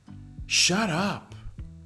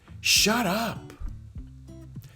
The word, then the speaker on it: shut up: pronunciation is like this shut up shut up notice the pronunciation of the last t is almost like a d and it's connected to the u over here shut up shut up